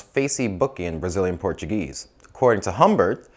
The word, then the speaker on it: Facebook: Humber kamacho and apparently the club's name is pronounced Facey booking Brazilian Portuguese according to Humbert we were looking